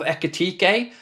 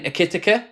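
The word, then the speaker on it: Ekitike: viewer will know uh how bad I was trying to pronounce Ugo Eatik's name for ages. I I just couldn't get the rhythm of Ecatik. I kept saying Ekkit and I just could not get it out of my head.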